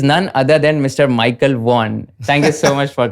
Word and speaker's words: Vaughan: See, Vaughan and Warne is always a good rhyme, isn't it? Yeah. It's easier to rhyme with Vaughan, actually.